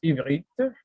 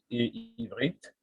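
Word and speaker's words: עברית: Donc, en hébreu, ça se prononce ivrite, parfois on le dit ivrite.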